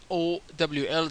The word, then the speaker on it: OWL: And of course, we have the Web Ontology Language, or pronounced as OWL. It's actually WOL, but written OWL just for ease of pronunciation, so pronounced OWL, as you know.